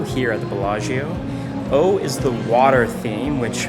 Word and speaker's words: eau: O is the water theme, which makes sense seeing as O is French for water when it's spelled E-A-U.